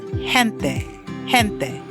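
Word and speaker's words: gente: So for example, the word people in Spanish is hente. The G is pronounced with a H sound because E comes after it.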